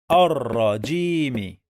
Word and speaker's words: الرجيم: The first syllable we have alif, and then lam shamsiyya. We don't pronounce it. Then we pronounce ra 2 times because we have shadda here.